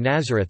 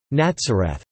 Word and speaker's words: Nazareth: Nazareth is not spelled with the Z sound but with the Hebrew Sadi, thus, Nazareth or Nazareth.